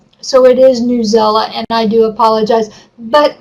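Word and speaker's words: Newsela: I was told it's Newzella, and that's how they want it to be pronounced, and I do.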